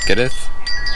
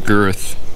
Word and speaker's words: Goethe: Goethe, approximate pronunciation, Goethe, okay, so it's Goethe, was right.